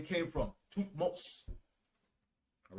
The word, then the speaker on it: Thutmose: It's spelled A-M-E-N-H-O-T-E-P. Amenhotep. All right. He was a pharaoh after Ammuz. Then you had Thutmose the first. This is where Moses' name came from. Thutmose.